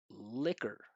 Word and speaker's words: liquor: Liquor.